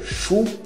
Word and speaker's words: chou: Repolho, chou, repolho, chou, é como se fosse X com U acentuado em português, chou.